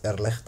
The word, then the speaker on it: Irrlicht: Good day, fellow programmers and users of the Irrlicht game engine, and yes, that's how you pronounce it, Irrlicht, I believe.